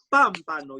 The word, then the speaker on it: pámpano: es algo difícil y es un pámpano lleva acento en la primera en la primera sílaba su abuelita lo estaba